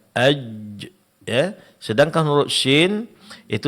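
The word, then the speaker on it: ج: Huruf jim itu tengah-tengah lidah menempel. Ajj.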